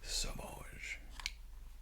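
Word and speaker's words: Sauvage: time with this one it's sausage but take out the Middle s and put a v on that's how you pronounce it saage this and aqua you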